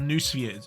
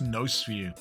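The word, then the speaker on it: noosphere: another origin of the it's not new spheres I always pronounce it new sphere it's no sphere apparently I don't know I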